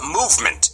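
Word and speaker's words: MVMT: watch em VMT watches now you pronounce that movement yeah right it's not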